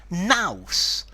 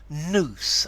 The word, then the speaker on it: nous: the formality of it in British English Mouse is your intelligence you're with your your brain power your intellect but it's really informal I mean a 3.5 a 3 in formality but the Americans seem to pronounce this noose as in The Noose that goes around your neck um with the same